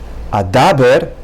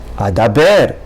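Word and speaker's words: אדבר: And the previous word, instead of saying Adaber, Adaber. Now, the last column are exceptions, some of the exceptions.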